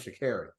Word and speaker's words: Sha'Carri: No, my name's Sha'Carri.